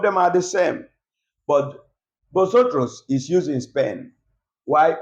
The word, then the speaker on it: vosotros: here we have bosos botos the bosos here botos means you people remember the word I'm pronouncing botos because of the v v in Spanish is not pronounced as V is pronounced as B so we have BOS